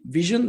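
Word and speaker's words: VSHN: uh first of all how do you pronounce name vision like the eye hence the eye in the logo we are located in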